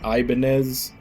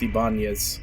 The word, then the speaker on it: Ibanez: funny to me that the guitar brand everybody pronounces it Ibanez but it's like I knew someone with that last name it's actually pronounced ibanias man like you could